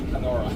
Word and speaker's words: Canora: It's spelled like Canada. Canada. In English, Canora. Yeah, Canora.